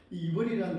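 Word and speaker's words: עברי: 이벌인데 이버리란 단어는 뭐냐하면 에베의 자손 또는 간을 건너온 자 이런 뜻입니다.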